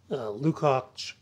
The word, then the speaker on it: Lukács: I had them read some of the literature of cultural Marxism, and among the authors there are the famous Antonio Gramsci, Lukács, which is spelled Lukacs, Herbert Marcuse, Adorno, Horkheimer, Brecht.